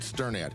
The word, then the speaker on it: Sternad: Hi, I'm Sternad. And you pronounce my last name like you are stirring a pot.